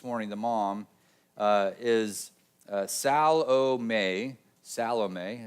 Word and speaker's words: Salome: Salome is how it's pronounced.